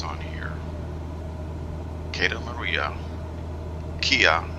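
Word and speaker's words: Kea: Kia, like the name of the very popular department store, K-E-A, and Agios, which is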